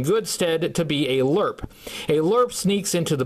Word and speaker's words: LRRP: long-range recon patrol and in another parenthesis it says it's pronounced lerp his file name is